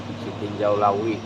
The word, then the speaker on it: Sitinjau Lauik: Sitiul lawi. Dalam bahasa Padang itu Sitiul Lawi. Dalam bahasa Indonesia disebut siinjauu laut.